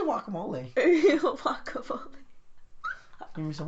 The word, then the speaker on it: guacamole: say that stupid word it spell with the GU so say it like with the gu gu guac not gu it's not a w gu there's W there's a u in it U is W is two U so wacamole wacamole guacamole guacamole guacamole